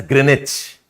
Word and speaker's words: Greenwich: uh Greenwich Meridian Greenwich you right as Greenwich your pronounce as Greenwich okay Greenwich Meridian this